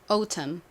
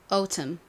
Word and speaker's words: autumn: A, U는 영국식으로는 O 발음이 난다 라고 말씀드렸죠. 그리고 다음은 T가 왔는데요. 미국처럼 T 발음을 굳이 꽈가지고 막 R 마냥, 리을 마냥 하지 않고 영국식 발음은 좀 담백합니다. 그래서 T가 원래 가지고 있는 소리인 티읕으로 보통 발음을 해요. 그리고 다음 U, 아까 전에 말씀드렸듯이 발음이 나죠. M, 미음 받침으로 들어오고 N은 소리가 나지 않는다 라고 말씀드렸죠.